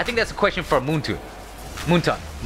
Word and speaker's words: Moonton: I think that's a question for Moonton. Moonton. Monton. That's how you say it. I keep saying Moonton for some reason.